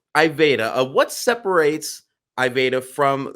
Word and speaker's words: Iveda: for those at home I was pronouncing it ivita and he corrected me so it was pretty funny so I'm not gonna do that anymore um so iveda what separates I beta